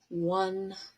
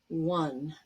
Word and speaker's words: won: And win, won, won. Notice how one is pronounced like the number 1.